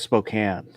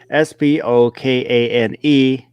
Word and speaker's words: Spokane: I think it was Spokane.